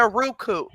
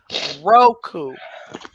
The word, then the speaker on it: Roku: tracy it's not a ruku it's not a rogue roku whatever i'm drinking we know